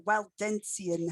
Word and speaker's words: Waldensian: how i roll uh the katharine waldensian heresy is the clearest english pronunciation these are heresies whose